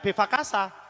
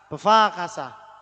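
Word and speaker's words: בבקשה: jawabannya ini Belva Keisha ini pun bacanya bukan vivacasa bevakasha wakasa jadi kayak bunyi Hai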